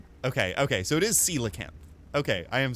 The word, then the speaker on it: coelacanth: coelacanth okay oh man I really want to pronounce it Cola camp but okay you did say it's pronounced coelacanth right am I saying it right coelacan that feels right